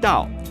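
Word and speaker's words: 倒: backwards or upside down da is pronounced the same way as the character for arrive da so if you have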